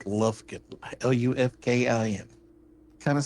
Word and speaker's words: Lufkin: I am from a sleepy little town in Texas called Lufkin. Lufkin. Kind of spelled like the tape measures.